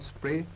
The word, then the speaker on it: Spree: its summer Glory skirt the river spray not to be pronounced spree which is something quite different and arrived at the